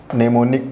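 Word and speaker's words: mnemonic: ने रिकॉर्ड है अब हम इसको ओपन बोलेंगे निमोनिक कोड और यह जो यह नेम यूनिकोड कि निमोनिक फूड एवं साइलेंट रहेगा इसका वैज्ञानिक नाम का यह नेम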